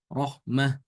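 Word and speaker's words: رحمة: Kalau tanya ditulis dengan tamar butoh seperti ini, maka ketika wakaf dibaca dengan hak. Rohmah.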